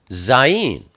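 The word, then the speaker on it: זַיִן: Next we have Zayin. Zayin is the number 7, and it's pronounced Z, like zoo.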